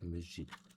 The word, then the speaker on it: Musil: He escuchado mucha gente que lo pronuncia con acento francés y no es francés, es austriíaco.